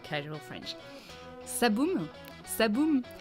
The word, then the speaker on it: ça boume: It's all at the front of your mouth. Ça boum. Ça boum.